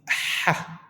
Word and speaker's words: ح: comparing to English, as there is no ha in English language. So just remember or follow our pronunciation by saying ha, ha. It's something come from the throat.